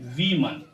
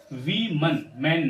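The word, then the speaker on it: women: इसे हम पढ़ेंगे वीमन। वीन मैन नहीं वी मैन नहीं वीमन।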